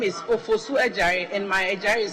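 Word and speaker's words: Adjare: My name is Ofosu Ejare, and my Ejare is spelled A-D-J-A-R-E.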